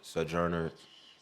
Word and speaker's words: Sojourner: I don't want to mess it up Swords Sojourner so so Sojourner Truth that's how you say